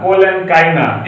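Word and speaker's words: collenchyma: China मत पढ़िएगा, गलत प्रोनाउंसिएशन है, तो टीचर भी गलत बता रहा है, तुम लोग भी गलत पढ़ रहे हो, तो आप लोग गलत नहीं पढ़ेंगे। चाइना पढ़ते हैं, एक गलत प्रोनाउंसिएशन है। सही प्रोनाउंसिएशन है पैरेन्काइमा, कोलेनकाइमा, स्क्लेरेन्काइमा। स्क्लेरेन्काइमा।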